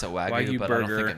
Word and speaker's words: Wagyu: at the Bellagio, and I got a Wagyu burger.